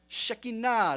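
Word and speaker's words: Shekhinah: English and we say shakina shikina shakina is how you say it in Hebrew there used to be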